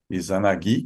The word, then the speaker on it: Izanagi: Izanami, Izanagi e Izanami, né? Como bem frisou o Kaito-san, tem que a sílaba tônica aí, a última, né? Izanagi e Izanami, né?